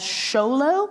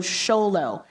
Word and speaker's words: Xolo: It's nickname as Xolo, even though it's spelled with an X. So Xolo, basically your Mexican hairless dog is what you're looking at right there.